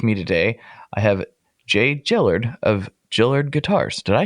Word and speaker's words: Jillard: I get Gilliard and Juilliard, like the school, and it's like, well, you're just adding letters now.